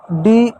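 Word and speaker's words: day: Example तौर पर आप देखिएगा डी ए वाई। डी को क्या पढ़ेंगे? ड पढ़ेंगे। ए के बाद वाई है तो ए की मात्रा पढ़ेंगे। वाई साइलेंट हो गया। हो गया डे।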